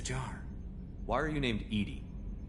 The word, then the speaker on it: EDI: airlock is a jar why are you named Edy Edy is the phonetic pronunciation of e di that is an acronym